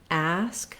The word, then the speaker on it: ask: Letter A in ask says the black cat vowel. So you could think about cats ask or the cat asks, trying to match that ah vowel in order to say it correctly in this word.